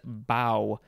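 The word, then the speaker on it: bough: of them are though all right next is bao b-o-u-g-h it is a noun from before the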